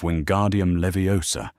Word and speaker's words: Wingardium Leviosa: Hermione had been correcting his pronunciation of Wingardium Leviosa for 3 weeks. two syllables in, emphasis on the gar, flick on the Levi, and it had been